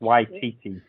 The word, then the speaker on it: Waititi: Taika Waititi. Yeah. I think that's, or I might be pronouncing his first name wrong, but I think it's Waititi. It is.